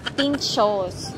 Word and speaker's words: pintxos: Guys, alam nyo ba, kanina pa ako ng pinto. Mali pala yung pronunciation ko. Ano pala? Pinchos.